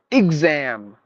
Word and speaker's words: exam: we are familiar with not exam it's like exam I G IG z a a m like exam exam something excuse me not